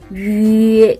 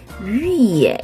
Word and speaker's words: 月: 위에라고 발음하죠. 위에. 그런데 앞에 성모, 자음이 없잖아요. 그럴 땐 어떻게 한다고 그랬어요? 그쵸? 이렇게 Y를 붙여. 그리고 점을 떼고 이렇게 표기를 하는 거예요. 이렇게. 그래서 발음은 위에 이렇게 발음을 합니다.